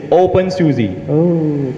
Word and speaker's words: openSUSE: you say something bad i'm just going to pronounce it for you okay it's open susie okay cool i've got